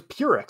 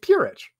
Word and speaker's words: Purić: with i see but it's actually pronounced itch at the end that's what i thought